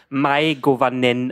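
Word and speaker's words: Mae govannen: richtig ausgesprochen habe aber irgendwer im Internet hat geschrieben dass es my goanen ausgesprochen wird irgendwie so okay ja irgendwi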